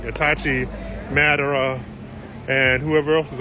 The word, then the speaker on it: Itachi: When she started out, I think she just started out with decals and stickers and grew to Sasuke, Itachi, I said it wrong, Itachi, Madara, and whoever else is on her car.